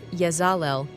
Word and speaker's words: Yezalel: Cosmic ID card name Yazel, pronounced Yazal.